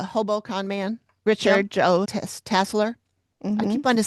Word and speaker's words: Tasler: It's Tasler. That's how they pronounced it in the show.